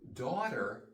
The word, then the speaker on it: daughter: have to remember that we don't pronounce the G and the H so daughter listen daughter sounds like water AA daughter water daughter water so we have